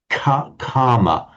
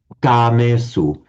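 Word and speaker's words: kāmesu: We tend to aspirate them in standard English. So a standard English pronunciation would be karma for kamesu, but it took me quite a long time to master it, to be able to pronounce it without the aspiration, say kamesu.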